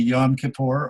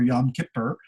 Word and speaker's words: Yom Kippur: and yom kippur and it can be yom kippur or yom kippur the day of atonement